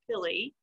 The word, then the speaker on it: pili: um they're all called pili by the way and that's how it's pronounced this word is pronounced philly um which are short